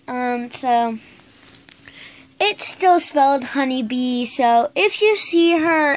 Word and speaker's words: Honey Bea: so it still smelled honeybee so if you see her ever lost uh uh just be sure to pronounce it honey bee not Honey B A or I don't know